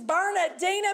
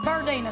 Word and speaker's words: Bernadina: Congratulations, Bernadina P. Oh, it's Bernadina. Sorry, doll, I added a syllable.